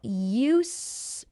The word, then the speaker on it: used: To get used to something. Well, I said use, but there's actually a D at the end of that word. Get used to. But we don't say the D.